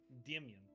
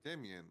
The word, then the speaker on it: Damian: Ignore the ignore the demian. Notion. So hard to say. No. No. There's not three syllables. It's two. That's what I'm saying. Damian.